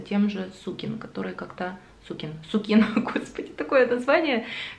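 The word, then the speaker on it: Sukin: же сукин который как-то суке суке на факультете такое название всегда или знаешь как правильно поставить ударение тут как тебе удобно так как выдала сукин правильно называется бренд уж простите но по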